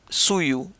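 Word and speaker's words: sullu: And again, I'm pronouncing S-U-L-L-U as Sulu, but it might be Suyu, but we do in the Spanish pronunciation.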